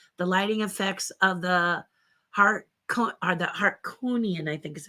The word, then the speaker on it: Harkonnen: The lighting effects of the Harkonian, I think is how you say that. Sorry, I've read the books, but gladiator fight were very weird though. Boy, are those Harkonnens. It's Harkonnens.